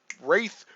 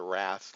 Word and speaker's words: wraith: And I think I grew up calling it a Wrath, but I think Wraith is the correct pronunciation.